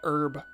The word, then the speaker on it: herb: Americans don't say H. Yeah. Where find Peppity herb? Americans say herb. Which is odd. I don't know. There's a fucking H.